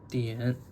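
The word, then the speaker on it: 点: It's pronounced dian.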